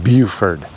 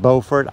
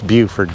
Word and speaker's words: Beaufort: It's pronounced Beaufort, so not Beaufort. I know it looks like Beaufort, but it's Beaufort down here.